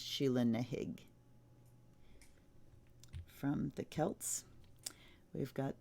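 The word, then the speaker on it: Sheela na gig: its pronoun it's spelled shilling a gig it's pronounced shilling a gig from the Celts we've got the villain Dorf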